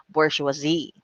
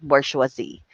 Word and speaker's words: bourgeoisie: is bourgeoisie all right even before but the pronunciation of this is bourgeoisie that is right bourgeoisie so it is a french term used to